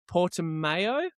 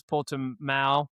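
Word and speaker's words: Portimão: And now I will fuck this pronunciation up. Portimao.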